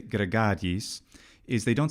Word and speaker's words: gregariis: Something that's really good and pretty consistent about what the actors do in the case of, say, gregariis, is they don't say gregariis.